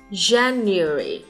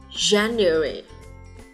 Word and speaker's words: January: Tháng 1, January. Trọng âm nhấn vào vị trí đầu tiên và phụ âm đầu tiên sẽ là âm J. January. Nguyên âm của âm được nhấn trọng âm sẽ là nguyên âm A.